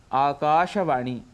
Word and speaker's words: आकाशवाणी: ऐसे ही आकाशवाणी, इसका उच्चारण शुद्ध यदि करना है तो वह है आकाशवाणी। दिनदर्शिका, दिनदर्शिका अर्थात कैलेंडर, जिसका उच्चारण हम करते हैं दिनदर्शिका, इसका शुद्ध उच्चारण है दिनदर्शिका।